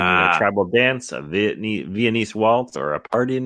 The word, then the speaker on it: Viennese: Viennese. Vietnamese. Wow. Viennese. Okay. It took me 2 seasons of Dancing with the Stars to say it correctly.